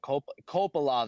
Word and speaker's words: Kopylov: Yeah, Kopolov, that's how you say it. Yeah, I was saying Kopolov. Kopylov.